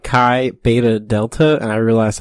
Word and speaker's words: Qi: let's try would say Chi yeah but the way that you smell the tea is a lie what Qi is how you spell Qi or Chi is how you pronounce Qi welcome by hate the